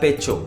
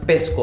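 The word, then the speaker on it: pecho: बताऊं, तो अगर आप इसे इंग्लिश स्टाइल में पढ़ेंगे तो आप नहीं पढ़ पाएंगे। या अल पेचो, आप इसे पढ़ेंगे अल पेस्को, अगर मैं इसे इंग्लिश में पढ़ूं तो अल पेस्को।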